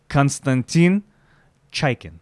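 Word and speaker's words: Konstantin Chaykin: Konstantin yeah let me let me hit you with some Russian because I'm from former Soviet if I don't pronounce it right please please people are gonna be upset konstantin chikin there you go he builds some really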